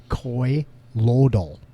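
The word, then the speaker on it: colloidal: It's pronounced Coy Loidal, Coy Loidal, Co like coworker, all. Like the end of normal.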